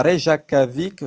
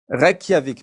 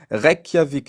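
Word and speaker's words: Reykjavík: plus lointaine qui a été menée c'était à Rejavic je excusez-moi. C'était en Islande au 17e siècle. Oui. C'était ça se prononce comment ça se dit ? R Kiavic. Requiavic. Merci beaucoup. Requiavic.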